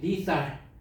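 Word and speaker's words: lethal: 리 리 발음이 리살 리살 하면 좋은데 리 치명적인 치명적인 여기도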